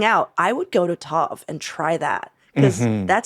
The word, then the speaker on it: Tov: So Lee wrote, Joe started Tove. I think that's how you say it. Tove Tov, yeah.